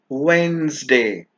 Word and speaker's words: Wednesday: pronunciation will be strength Wednesday the the D in this word is silent jalapeno not jalapeno jalapeno